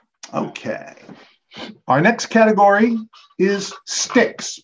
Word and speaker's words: Styx: Our next category is sticks, but that's spelled S-T-Y-X.